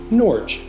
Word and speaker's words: Norge: of Norway Norge however the town's first residents used a Norwegian pronunciation nor and over time the name was Americanized maybe this video can be a catalyst for us reverting back to the original and proper pronunciation of nor which I for one